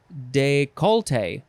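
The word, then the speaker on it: décolleté: word it is decollete de calate de colite de cola de calita yep yep yep or you can also again take off that extra syllable and say de colte de colte that's a that's interesting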